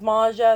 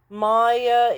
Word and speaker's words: Maja: that her name is Maja. I think it's because the Maya is spelled like J because the J in German and in many uh European languages is pronounced a Y and not a J.